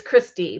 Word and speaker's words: Gwisty: It's Christy, but it's spelled Gwisty. Gwisty, there he is.